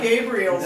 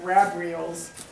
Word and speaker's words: Gabriel: all right so this Gabriel's horn not gra Gabriel not grabriel Gabriel's horn is the